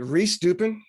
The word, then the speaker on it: Rehs-Dupin: Rehs-Dupin.